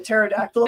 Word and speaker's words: pterodactyl: can't you hear a pterodactyl in the bathroom the p is silent brilliant okay I know